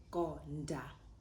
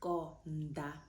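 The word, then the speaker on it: konḓa: If you didn't have a cuppie underneath that D, you would say konda, konda, right? But instead, because we have the cuppie underneath, it highlights that, hey, you don't pronounce this the way that you spell it. So it's konda, konda, right?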